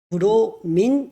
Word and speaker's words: 브로민: 이게 분식 발음이라 가지고요 영어식 발음으로는 브로민 이렇게 이름이 바뀌어졌고 질산 염류는 한글이라서 그대로고요